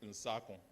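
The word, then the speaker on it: Nsarkoh: Because again, I will breach the copyright and tell the students that my name is Nsakon. Nsakon is spelled N-S-A-R-K-O-H.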